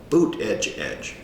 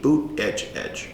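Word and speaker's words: Buttigieg: judge he called him Pete but edge edge boot edge edge Pete boot edge edge his comment was they call him mayor Pete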